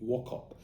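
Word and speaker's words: Wauchope: Wokop. That's how they pronounce it. Now in Israel, you actually have streets called But Arthur or Warhop I think is now how you pronounce it.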